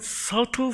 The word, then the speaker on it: subtle: 근데 여기 보시면 Psalm 103 strikes one subtle form of idolatry. idolatry 우상입니다. subtle이랑은 교묘하다는 거예요. subtle이 아니라 subtle입니다. B가 묵음입니다.